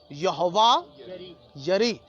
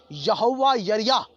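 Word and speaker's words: יהוה יראה: یہوہ یری. اردو میں خیر یہ یری تلفظ کر دیا گیا ہے، جبکہ اس کا صحیح جو تلفظ ہے وہ ہے یریا. یہوہ یریا عبرانی لفظ جو ہے.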